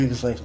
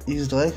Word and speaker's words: X-Drake: X-Drake, dont le X se prononce dièse, comme 10 en espagnol, est le fils de X-Barrels, un ancien officier de la marine qui devint lui aussi pirate.